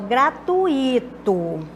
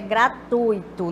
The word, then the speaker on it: gratuito: fosse proparoxítona e vice-versa pode acontecer de o pronunciar concurso proparoxítona e elas e paroxítona Então vamos ver aqui o caso dessa o grato desde até o gratuito não é quando o correto é gratuito nós temos aqui um